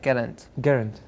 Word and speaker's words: Geraint: I don't know how to pronounce his name, but Geraint Owen? Yeah, Geraint.